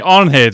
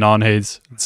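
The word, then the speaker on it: Arnheid: Now that I'm hearing it, the D in Arnhild is pronounced like a Z as well.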